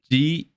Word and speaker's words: Geal: Geal. Geal. Deal. Oh, Deal. Okay. Almost like Neil, but I thought you said eel, like EEL.